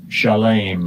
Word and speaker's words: Shalem: Let's go ahead and hear how it's pronounced. Strong's H 8004. Shalem.